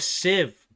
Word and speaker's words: sieve: Oh, a civ. That's how you pronounce that.